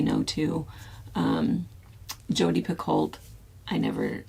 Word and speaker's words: Picoult: Jodi Picoult, I never say no to, or Pico is, I think, how you're supposed to say her name.